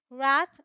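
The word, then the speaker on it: wrath: इसे हम बोलते हैं रैथ, इसे बोलते हैं रीथ, rake, wreckage, rain, wrench, wrestling, Regal, ring, wrinkle, रिस्ट, wrong, road.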